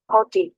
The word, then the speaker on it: haughty: तो हॉडी, उसका प्रोनाउंसिएशन एक बार और देख लेना है। हाँ, उरुर वाला मगरूर, हॉटी, ऐसे में, Haughty.